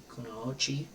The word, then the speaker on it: Kunoichi: here to Kunoichi, I think is how you pronounce it, Kunoichi.